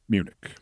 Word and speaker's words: Munich: this statement in Munich rhyming with unic also of Interest here